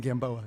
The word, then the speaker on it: Gamboa: so triggered something there I've always pronounced my name Gamboa Gamboa but I I don't